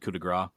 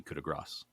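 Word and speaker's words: coup de grâce: i have growing up always said coup de gras but listening to the glass cannon they said apparently he went through this whole pronunciation thing that it's supposed to be kuda grass i say cuda bra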